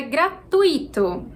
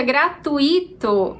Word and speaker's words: gratuito: de número 22 é gratuito gratuito e gratuito então tui é uma única sílaba e a gente pronuncia assim a pronúncia gratuito é considerada incorreta Então